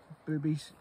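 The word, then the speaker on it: Bubi: I don't think when they made these in America, they were thinking of the Northern Ireland market, but yep, boobies, B-U-B-I. That's how I pronounce it.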